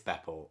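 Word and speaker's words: Bepo: thank you so much so I said people it's Beppo I can't believe I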